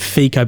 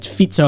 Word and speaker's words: Fico: And Robert Fico, I always pronounce it Fico, but people always say it's Fico of how it's actually pronounced.